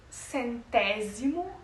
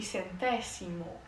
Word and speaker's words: centésimo: O S no português ele vai ter o som da letra Z, mas como eu já disse no espanhol eles não fazem esse vocábulo da letra Z. A maioria das pronúncias pronunciam a letra a o a o fonema Z como o mesmo fonema do S, do C.